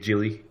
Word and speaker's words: Gyllenhaal: this is actually Jim Gyllenhaal's Gyllenhaal is one of my favorite actors and I've never seen this it's a soft G yeah it's a softy Jill Jill did Jill also I didn't know